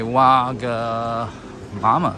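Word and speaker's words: Wagamama: saw a wag mama a waga mama yes mama that's how you pronounce it oops oops sorry okay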